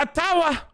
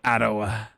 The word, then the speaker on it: Ottawa: tell you this much it's not a tower many people are saying atawa i say ottowa romper's ties to the